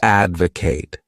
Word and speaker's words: advocate: The next wonderful verb is to advocate. This word has three syllables and the stress is on that first syllable.